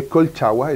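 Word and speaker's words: Colchagua: so for your wines they are all from koh cha koi welly right it's my pronunciation correct yeah it's a kolchawa it's a native native word of chile that's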